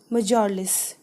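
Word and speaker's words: mjölis: his guest until bedtime students this particular word will be pronounced as majorless okay the old man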